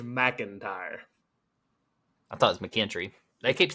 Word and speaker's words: McKinstry: page, but George McKinstry, I keep wanting to say McIntyre, but George McKinstry. Hold on. Andrew sent me the pronunciation, so we didn't mess it up. It's McKinstry.